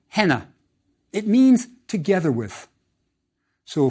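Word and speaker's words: ḥnꜥ: How is it pronounced? Yes, something like henna.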